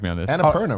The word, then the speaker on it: Annapurna: Annapurna, right? Annapurna.